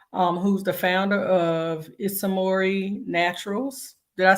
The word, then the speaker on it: Ismori: Harris with us um who's the founder of isamori Naturals did I say it right I did